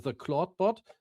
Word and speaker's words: Clawdbot: long time because the clawbot I think it's pronounced like claude but written differently. So this cla bot with the W that has been amazing.